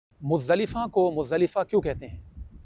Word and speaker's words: مزدلفہ: سب سے پہلے تو یہ بات یاد رکھیں کہ ہمارے ہاں اس لفظ کو مزدلفہ کہہ رہے ہوتے ہیں، مزدلفہ نہیں ہے، یہ عربی زبان کا لفظ ہے، اس کا درست تلفظ ہے مزدلفہ، اور اس کے کئی